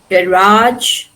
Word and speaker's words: garage: So here we pronounce the suffix suffix a g e as arch. Arch like in camouflage, garage, sabotage. It has retained the French pronunciation camouflage, garage or sabotage.